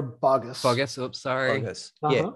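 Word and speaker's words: Boggess: Sierra Bogus, is that how to pronounce it? It's Sierra Bogus.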